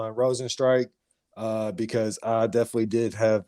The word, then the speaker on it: Rozenstruik: Rozenstruik, man, remember that name. And it's Strike for anybody that's concerned with pronunciation. Hand up. It is Strike.